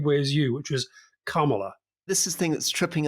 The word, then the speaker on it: Kamala: explainer say is that you have to pronounce it like comma but of course Comm